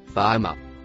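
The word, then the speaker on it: فأما: Quant à celui qui aura dépassé les limites, le mot écrit en rouge se prononce fama.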